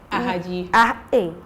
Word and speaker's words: Ahadji: Art and Soul is still here just for you guys, and I'm here with the beautiful Ahadji. I say it right. Ahadji.